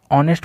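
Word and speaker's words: honest: ठीक है, तो देखिए ऑनेस्ट बॉय, ऑनेस्ट को यदि पढ़ेंगे तो यह यहाँ हो जाता है साइलेंट, पढ़ते हैं ऑनेस्ट।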